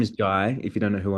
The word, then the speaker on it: Jai: Uh, my name is Jai. If you don't know who I am, and it rhymes with Sky for all my friends in the US that call me Jay. It's Jai like Sky J.